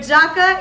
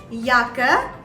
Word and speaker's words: Jacke: c e darker okay but jacka is wrong you have to pronounce it as yaka yaka and yaka in